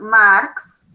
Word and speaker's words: Marx: Esta historiografía entonces va a ser creada por este señor que se llamó Karl Marx. Se escribe con K, K-A-R-L-M-A-R-X, Marx, y otro señor